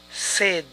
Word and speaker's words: said: Tú dijiste. Tal vez diríamos you said. Y esto también es incorrecto. Es you said. You said. Esas pronunciaciones de say, como ven, son excepcionales.